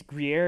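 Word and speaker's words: Gruyère: was like um I I think it's Grier is how you say it and then it was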